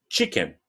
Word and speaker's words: chicken: Sempre que você vê um CH em inglês, a pronúncia dele vai ser com o nosso tchau. Ó, tchau, chicken. Tchau, chicken.